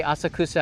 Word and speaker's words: Asakusa: So people say I don't say I say Asakusa. I don't say it like a local.